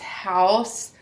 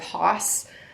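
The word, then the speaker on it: Haus: I think it's pronounced House. It's spelled H-A-U-S, so I think it's called House. I'm gonna be honest though, when I see this, it makes me think of Haas.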